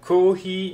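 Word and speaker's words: コーヒー: of the K character for kohi you need to draw out the sounds for both go and he because they both have a minus placed between I I don't know how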